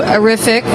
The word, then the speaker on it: Arifiq: Arific, which rhymes with terrific, is actually right next door to the Printerverse.